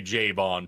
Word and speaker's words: Jovan: I meant to say Jovan. Pardon me. I mispronounced his name.